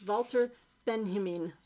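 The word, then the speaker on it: Walter Benjamin: um oh look and i know how to pronounce pronounce this name now it's valter ben-himming okay i got that right i got that right this time uh louis armstrong that's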